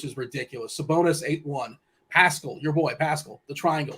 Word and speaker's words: Pascal: I can finally tell you his name is Pascal ah Pascal Pascal come on man it's close